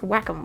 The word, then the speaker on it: Wacom: original but you know which is technically pronounced wacom but i prefer welcome because wacom sounds stupid anyway that is uh